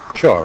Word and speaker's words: Shaw: Shore, right? Yeah. Yeah, that's what I thought. Okay. What's a Shaw? With an R? I guess it all depends if you're Scottish or not, how you say it.